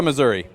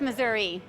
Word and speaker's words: Missouri: Missouri or Missouri? It ends in an I. It's Missouri. But if you're a politician, it's always been Missouri.